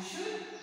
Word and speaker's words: should: See, here, See, okay, L is silent and not pronounced, okay, in this, okay, in chop and walk and should and could.